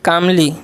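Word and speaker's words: calmly: verbal ने जवाब दिया कामली देखिए एल इसमें साइलेंट होता है कामली पढ़ते हैं इसको तो क्या हो जाए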